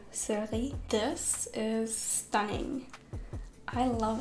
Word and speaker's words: Cerise: if you didn't know my last name is actually in french it's cerise or surly this is stunning i